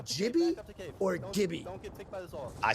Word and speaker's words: Gibby: You would pronounce Gibby, not Jibby.